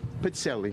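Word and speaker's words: pizzelle: And would you please pronounce this cookie's name correctly? Pizzelli.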